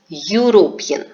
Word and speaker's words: European: of the word so if we pronounce a word we are speaking it as European so the a letter here is silent and the sound which is coming is of letter U as a consonant you sound alright so that's why